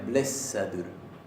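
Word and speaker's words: blessaður: La doble S acá se pronuncia blessadur.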